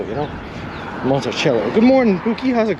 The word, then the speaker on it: Monticello: It could be Foxy Grandpa, but I'm pronouncing it like the Thomas Jefferson estate down in Virginia. Monticello, you know? Monticello.